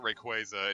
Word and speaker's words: Rayquaza: Rayquaza that way it's the way you're putting the emphasis on it like I've never heard like yeah like I call every quaza everyone no calls it Rayquaza and you're like rake